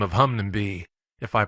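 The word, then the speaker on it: Hunmanby: close to flicks tin by the name of Hungnam be if I pronounced it right hopefully that is in the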